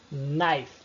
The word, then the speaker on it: knife: Agora, o K, K, ele sempre, absolutamente sempre é mudo antes de N. Veja os exemplos. Knife.